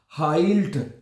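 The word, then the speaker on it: heilt: हाइल्ड है। जर्मन जुबान में यह बात आप याद कर लीजिए। जहां पे इ आई इकट्ठा आएगा वहां पे इसको आपने आई प्रोनाउंस करना है।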